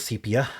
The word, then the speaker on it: sepia: starting with sepia, actually, so that's pronounced, not sepia. I can't get over pronouncing it sepia because I only saw it written for the longest time. But it is sepia.